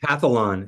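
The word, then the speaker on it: Calphalon: I'm gonna I'm gonna mess up the brand Califon is is that the brand of of pan cathlon is how it's pronounced okay perfect okay so I had purchased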